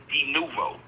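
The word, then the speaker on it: de novo: and they review it duvo. That's how they say it. It's like a Latin term.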